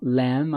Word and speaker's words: lamb: Você está vendo que Lamb termina com B, mas só que esse B é mudo aqui, tá bom? Lamb of God.